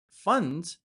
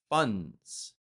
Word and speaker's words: funds: Funds. Funds. I'm not pronouncing the D. I'm just extending the N.